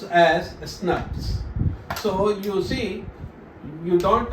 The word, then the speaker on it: snRNP: it SNR NPS and this snrnps is pronoun pronounced as snaps so you see you don't write SNR you write as SN uh SN rnp but you pronounce it as snaps okay now what I have said said that